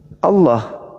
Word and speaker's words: Allah: Bacanya apa? Allah.